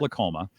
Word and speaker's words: Lolcoma: though it's not spelled that way but it's pronounced lacoma and Candace is the corporate field marketing coordinator